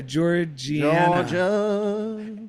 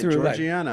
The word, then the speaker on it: Georgiana: West it's either Georgia georgana anyway she takes the Ten Commandments because there's spiritual they metaphysical laws for the application of how we oh you're right Georgiana I've been saying it wrong Georgiana Tree West as we